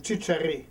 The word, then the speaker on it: Csiscery: s i CS e r y and spell pronounce that again T Cher okay and uh Gabrielle you want to spell